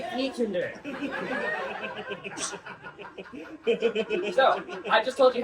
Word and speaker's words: die Kinder: So if you ever forget how to pronounce Die Kinder, just remember, we don't kill little children in Germany. So you don't say Die Kinder, you say Die Kinder.